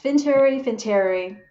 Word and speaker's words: Finteri: Yeah, and Qiyun, you are the founder and CEO of Finteri. I pronounced the company correctly, right? I think. Yes, Finteri.